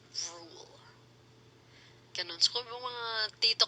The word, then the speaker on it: Ruel: Yung spelling ng Rule ni Rule, Ruel. R-U-E-L. Ruel. Ganun. Pero it's pronounced as Rule.